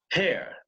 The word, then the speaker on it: hair: How does he pronounce hair? He pronounces it hair, right? He doesn't pronounce the final R.